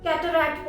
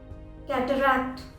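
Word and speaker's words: cataract: English में इसकी spelling होती है ये पर लोग जल्दी जल्दी में कैटरैक्ट बोल देते हैं। कैटरैक्ट हो गया, कैटरैक्ट नहीं, कैटरैक्ट, कैटरैक्ट। सेकेंड बार भी क का साउंड आता है, कैटरैक्ट।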